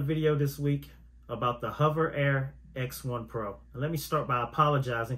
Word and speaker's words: Hover Air X1 Pro: back with another video this week about the hover air X1 Pro let me start by apologizing because in my previous video I was pronouncing it as Hoover Air X1 Pro I apologize to the manufacturer z00 robotics for